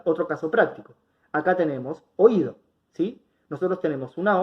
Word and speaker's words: oído: Y me doy cuenta que toda la fuerza cuando hablo la pongo sobre la I, digo oído. Entonces, si es la sílaba tónica, la vocal cerrada, voy a estar frente a un hiato. No los voy a dejar juntos, los voy a separar. Y la forma correcta de separar en sílabas va a ser o, i, do.